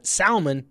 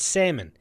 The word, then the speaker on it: salmon: Tommy says it's salmon, not salmon. I know we say it wrong in the South, but I don't care. Pronounce the dang L.